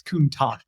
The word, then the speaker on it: Countach: Countach. Like, which camp are you in? I have never felt So- more validated than when Anthony Serra, an Italian speaker, was like, no, it's Countach. Hard Yep, CH.